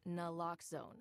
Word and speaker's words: naloxone: Reverses an opioid overdose, even if you mispronounce it. For the record, it's naloxone.